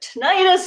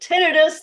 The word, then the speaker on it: tinnitus: Is it tinnitus? Is it tinnitus? This is always one of the first questions I get. Well, actually, it's kind of a tomato situation.